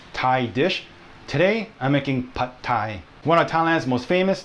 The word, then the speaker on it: Pad Thai: It's Pad Thai. The A in Pad is more like the word ago, long ago, rather than the A in apple.